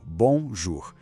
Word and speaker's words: bonjour: Remarquez bien la sonorité nasale à la fin : « bonjour ».